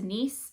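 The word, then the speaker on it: nisse: and folk folklore of I think it's pronounced niece. It's n i s e which is these little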